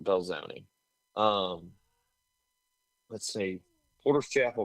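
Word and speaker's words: Belzoni: Um believe that's pronounced Belzone.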